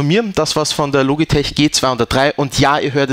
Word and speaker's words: Logitech: englisch sprechen nämlich mit logitech es wird aber im englischen korrekter weise es wird logitech ausgesprochen ist ist so ich weiß